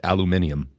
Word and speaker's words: aluminium: we got it I just wish that he pronounced it aluminium no gross aluminium aluminium uh but growing up